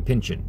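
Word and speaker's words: Pynchon: because and i mean i always say his name like it's uh like it's french but it's not they just call him pension you know like p n y c h o n and i always want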